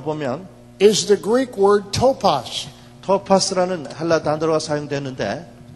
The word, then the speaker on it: topos: In the original text, the word "place" 여기 틈이라고 하는 그 말을 원어로 보면 is the Greek word "topos." 토파스라는 헬라 단어가 사용되는데. It's spelled T-O-P-O-S.